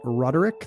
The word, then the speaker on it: Roderick: John was at John Roderick, 3 syllables, on both Twitter and Instagram.